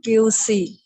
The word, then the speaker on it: cuisine: La Cuisine. La cuisine. I-N-E is pronounced as een. Een. So it will be cuisine.